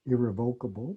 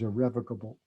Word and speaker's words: irrevocable: I've sat through many classes where people have said irrevocable, but the correct pronunciation, just in case you don't want to embarrass yourself, is irrevocable.